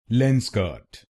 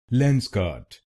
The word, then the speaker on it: Lenskart: Its correct pronunciation is Lens Kart. Lens Kart. This word has two syllables: Lens Kant.